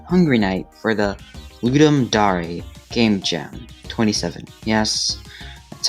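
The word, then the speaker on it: Ludum Dare: team Cherry submitted hungry night for the the ludum DAR game Jam 27 yes that's how it's pronounced as I've stated before this was the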